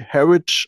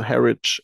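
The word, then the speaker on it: Harwich: nach ähm harwig geschrieben ich weiß nicht wie man es genau ausspricht aber ich glaube und hab das von meinen Freunden so gehört dass es irgendwie so ähnlich wie herit ausgesprochen wird also das WE wird irgendwie gar nicht betont also herit irgendwie so na ja vielleicht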